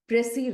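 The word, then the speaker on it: précis: talk to you about pressy writing yes pressy writing P re e c i s s is silent here all right children are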